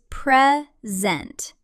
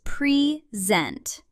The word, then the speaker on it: present: Present with two syllables. Noun is present. Verb is present.